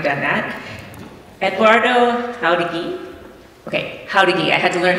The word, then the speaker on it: Jáuregui: It's like how to geek, he told me, without the K at the end.